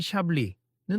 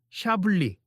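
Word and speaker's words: Chablis: 손님, 아까 말씀하신 소빈용 불랑도 좋지만 조금 더 가벼운 분위기에 맞춰보고 싶으시면 샤블리 샤블리는 어떠실까요? 발음은 샤블리 이렇게 하시면 됩니다.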